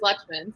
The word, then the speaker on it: Lutchman: yourself to that so how you say it is luxman so i'm lechman um i have been